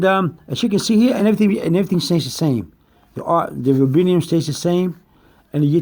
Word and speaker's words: rubidium: Some will pronounce it rubidium, but it's rubidium, which is capital R-U-B-I-D-I-U-M.